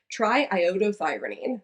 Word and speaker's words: triiodothyronine: me because we're going to get through this pronunciation together, triiodothyronine.